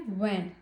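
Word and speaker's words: vingt: Then 20 है वैन. टी को हम प्रोनाउंस नहीं करेंगे. वैन.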